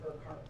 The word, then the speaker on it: Urquhart: Did I pronounce your name correctly, ma'am? You're close. Okay, how do you say it? It's Urquhart.